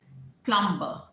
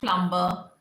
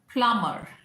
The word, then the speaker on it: plumber: P-L-U-M-B-E-R, which as kids we were taught and we learned that plumber, but it's not plumber, it's plumber. P-L-U-M-B is silent, so it is plumber.